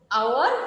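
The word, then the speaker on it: hour: উচ্চারণটা কেমন হচ্ছে? অনারেবল, আওয়ার, অনেস্ট, যার কারণে তার পূর্বে কি বসেছে?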